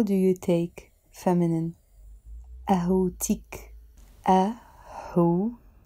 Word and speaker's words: قهوتك: أهوتك. أهوتك. Again here, I'm not saying أهوتك. We are pronouncing the T. أهوتك.